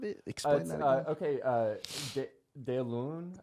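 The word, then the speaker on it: deloun: Okay, Delun, I believe is how it's pronounced.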